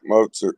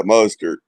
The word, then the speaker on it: Mostert: Hey, I drafted your running back, Mozart. I got good meds. Mozart? Try to say his name. Raheem Mostert? Yeah, Mostert.